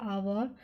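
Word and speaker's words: hour: जैसे देखिए हावर, तो इसमें एच वर्ड तो स्टार्ट हो रहा है एच से, लेकिन एच हमारा क्या है यहाँ पर साइलेंट है, और साउंड जो आ रही है वो किसकी आ रही है, आवर।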